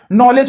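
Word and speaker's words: knowledge: जैसे नॉलेज में नॉलेज पढ़ा जाता है लेकिन लिखा क्या जाता है, के से लिखा जाता है।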